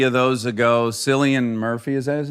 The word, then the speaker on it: Cillian: Do you remember, I guess maybe 3 of those ago, Cillian Murphy, is that his name? Yeah, From Cillian. Cillian. Cillian? I don't know. Cillian. It's spelled with a C, so it's very confusing.